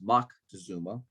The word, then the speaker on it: Moctezuma: the aztec monarch montad montezuma ii often pronounced mach to zuma greeted him at one